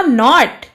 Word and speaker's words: knot: Next है आपका नॉट, KNOT नॉट मतलब गांठ और NOT नॉट, नॉट मतलब नहीं।